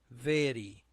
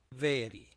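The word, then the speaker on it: ⲃⲉⲣⲓ: vita A ro iota this is pronounced very very this is an adjective means new.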